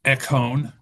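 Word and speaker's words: Écône: No, that's that's not the thing under the Eone. I would say e echone e c o n e with two diioritical marks.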